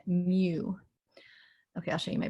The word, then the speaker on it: mu: you my bag but it is spelled m-u in case that helps you pronounce it mew okay i'll show you